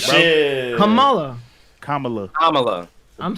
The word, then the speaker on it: Kamala: No, That's literally Kamala Harris.